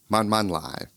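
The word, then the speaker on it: 慢慢來: Taiwanese friends telling me, man man lai. Let me break this phrase down for you. Man, that's pronounced with a fourth falling tone.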